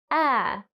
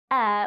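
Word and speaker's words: heir: breathe and you have air which is the person who is going to inherit something once again the h is silent so they do actually sound the same then we have pear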